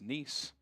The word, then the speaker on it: Nice: Yes, I know I pronounce Nice. Might be spelled nice, but it's Nice.